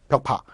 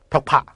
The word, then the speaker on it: 벽파: 그게 바로 시파, 벽파. 발음을 좀 잘하셔야 돼요. 시파, 벽파. 그죠?